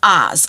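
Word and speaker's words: Uz: from a place called Oz it's spelled U but it's pronounced Oz like The Wizard of Oz okay and he was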